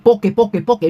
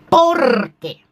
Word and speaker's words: porque: Y obviamente que Ángela Aguilar, repito, tiene un talentazo, cosa que esta ñora, para empezar, poque, no se dice poque, se dice porque.